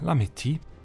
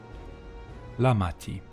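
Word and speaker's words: Lamaty'i: Ah, Lamiti. Lamati. I have to pronounce the second A bit more.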